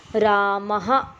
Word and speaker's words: रामः: और इसका उच्चारण हम ऐसे करते हैं, प्रदीपः, रामः, जयप्रकाशः, दिनेशः।